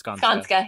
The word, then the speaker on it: Skanska: So what has been, I probably pronounce it, Skanska, right? Mm-hmm. I'm sorry, what was that? It's Skanska.